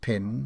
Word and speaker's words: pen: he her mark footnote pin read pen it formally was vulgarly pronounced pin in ireland her mark it was